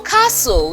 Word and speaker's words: castle: in its pronunciation for Castle though it has the T letter T but the sound T is not there it is one of the silent sounds that we learned also